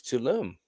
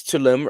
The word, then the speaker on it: Tulum: So yeah, this is Tulum. Tulum. How do you spell that?